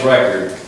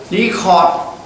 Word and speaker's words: record: junta's poor human rights record remains to be seen. Just record and record. Same the sound. Like record and record. Pronunciation. Record. Record. Depends on how you use it.